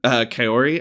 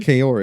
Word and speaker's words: Kaori: Kaori, I believe. Kaori, okay. All right. I'm just trying, because it sounds like Corey throughout the movie, which is why I was confused.